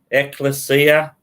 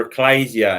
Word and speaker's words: ecclesia: look the english word church or ecclesia however you choose to pronounce it ekklesia or ecclesia and it also means called